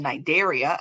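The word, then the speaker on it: Cnidaria: but there's this other philm called nidaria again the C is silent these little guys can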